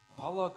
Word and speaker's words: Pollock: Pollock rhymes with dog.